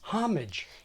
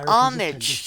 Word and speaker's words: homage: Juan and Don Quixote American pronunciation guides from the 1940s and 50s tell us that this word is homage nationalized like hostage but if you're paying homage to something nativize it turning it into homage or something between them